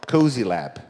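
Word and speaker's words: Cosylab: You're an entrepreneur and you're from, please correct my pronunciation if it's wrong, Cozy Lab. That's right. So it should be cozy.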